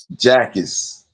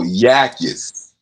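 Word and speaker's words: Jacas: Jackis. Yakis looks like a look it's like a Y. Oh, Yakis.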